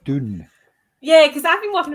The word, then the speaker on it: Dune: Is it Dune or June? I think it's Dune, but I can't say it. I say June. I say June. June. As in to rhyme with, as in to sound exactly the same as the month, rather.